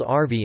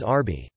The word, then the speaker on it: Arvi: It is called arvi in Urdu, Hindi in central and north India, which is often mispronounced as arbi.